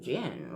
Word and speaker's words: djinn: Ginn, spelled with a D, but it's pronounced gin.